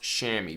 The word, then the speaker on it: chamois: It's definitely not spelled the way it's pronounced, but it's pronounced chamois, but it's spelled CHAMOIS.